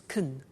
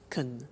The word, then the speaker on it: can: can speak Spanish now notice the pronunciation of can becomes caen shiken she can speak Spanish he can play tennis we can speak German all right so can becomes caen when we speak now the negative form